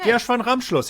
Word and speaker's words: Ramschluss: Flula, how is my pronunciation of Ramschluss? Gershwin Ramschluss. Okay. Gershwin Ramschluss, yeah, A+.